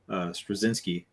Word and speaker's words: Straczynski: Michael Straczynski, right?